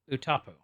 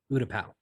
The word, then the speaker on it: Utapau: He's listening to the encrypted comm chatter, and Obi-Wan is engaging General Grievous on Utapu. Utapu? Utapau.